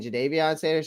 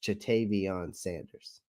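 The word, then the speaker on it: Ja'Tavion Sanders: Clay, is she saying Jadavion Sanders or Chatavion Sanders? Chatavion Sanders.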